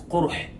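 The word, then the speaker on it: قرح: Qarh in Arabic language, the word qa, ra, and ha in Arabic language has 2 pronunciations. The first is qarh, the second is qurh.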